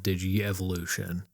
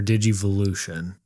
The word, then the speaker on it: Digivolution: They age via a process called Digi-evolution, or Digivolution, however you want to pronounce it. There you go. I mean, I say Digi-evolution just because it's easier. It rolls off the tongue a little better with that extra.